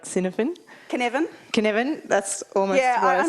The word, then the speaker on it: Cynefin: Cynefin, that's almost what I said.